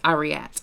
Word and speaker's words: Ariette: So, the name of the star is Ariette. It literally says that in the pronunciation guide, but my one brain